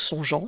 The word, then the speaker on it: songeant: Il ne faut pas oublier le E pour faire en sorte que le G se prononce bien je et non ge. Donc songeant s'écrit G-E-A-N-T.